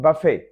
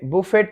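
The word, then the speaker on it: buffet: तो उसको कहते हैं बफे। बुफे, बुफेट नहीं, ये बुफेट नहीं है, टी साइलेंट है।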